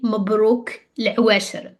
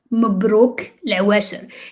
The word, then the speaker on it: مبروك العواشر: This one is harder in pronunciation, but I will help you out with it. So we have the M first, and then we have the B. So whenever we have the M, you press on your lips because you